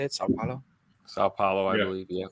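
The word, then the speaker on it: São Paulo: it sa Pao how do you say it sa Paulo sa Pao I believe yeah sa Paulo Brazil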